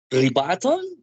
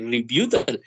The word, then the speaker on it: rebuttal: that the word um rebuttal the correct pronunciation is rebuttal i thought at the first time that it was something like reputable but no i double